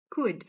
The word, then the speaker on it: could: Could you could?" A pronúncia do could é seca. Ele é um would. could.